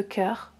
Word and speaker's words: chœur: Attention, le cœur s'écrit avec un H ici, mais je ne le prononce pas. Je prononce que. Je ne prononce pas ch.